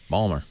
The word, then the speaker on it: Baltimore: Or Baltimore. Balmer.